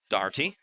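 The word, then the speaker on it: Daugherty: here for Dane Daughtry oh I'm saying that one right darty it's over one today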